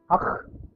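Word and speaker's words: ஃ: This is called akh, and this is something like the pronunciation of akh. This is pronounced as akh, and it is a triangle of three small circles.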